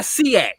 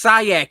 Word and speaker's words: SIAC: It's not SEAC. It's SIAC if you want to shorten it. Not SEAC.